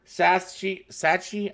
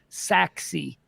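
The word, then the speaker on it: Sachse: now uh Allan Prosper Sai Sachi I'm still from I just moved here let me help you out I've been in the market a little while saxi Saxy thank you so much I've been pronounced that wrong this entire time Richardson and Frisco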